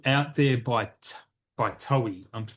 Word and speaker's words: Toei: There's another one here called Out There by Toei. I'm pronouncing it Toei.